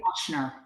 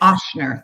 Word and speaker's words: Ochsner: Following a 20-year career as a gifted teaching physician and associate professor at Ochsner, am I pronouncing that right? Ochsner. Yes. Ochsner, thank you.